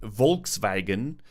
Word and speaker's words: Volkswagen: vs VES yeah in in German Volkswagen is Volkswagen you see how more how much more sharper the fou the V is um the V sound